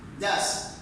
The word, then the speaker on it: does: Do, does, do not pronounce do is. Okay? No. Do, does. Go, goes.